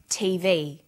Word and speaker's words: TV: with a readon memory notice that each letter in the abbrevi ation is pronounced separately but the last letter is pronounced more strongly because it carries the primary stress so we say USA ASAP ABC and TV listen for another abbreviation